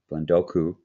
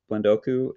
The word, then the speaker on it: Blendoku: bit about what uh blendoku did i say it right it's like sudoku the number game we ever played that